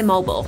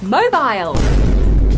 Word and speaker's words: mobile: Let me check the list on my mobile. Mobile. It's mobile. If it was mobile, it would be spelt noble with an M.